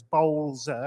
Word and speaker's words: Bowzler: It's Bowzler. If you think of B-O-W-L, bowl, then Zer. There are here some unusual pronunciations from various people, but just think of bowl, sir, and that's it.